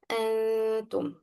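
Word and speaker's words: أنتم: Because we find noon sakinat followed by ta. Ta is one from the letters of Ikhfaa. Should let the student to pronounce it, okay? Like this. Antum, okay?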